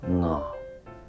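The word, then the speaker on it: ང: En tibétain, nga. Si vous entendez ce que je dis correctement, nga est un ton bas.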